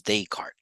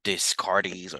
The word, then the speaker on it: Descartes: mine he was French so the way we read this is descart I know people want to read it differently discardies or something like that but no he's uh we read it as Descartes he was French now